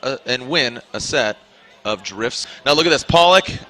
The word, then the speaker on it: Drifz: Hashtag FDDrifts16, and that's spelled FD, obviously for Formula Drift, and then Drifts is actually spelled DRIFZ.